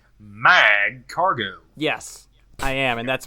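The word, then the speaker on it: Magcargo: Well, are you pronouncing it as a hard G, like Mag Cargo?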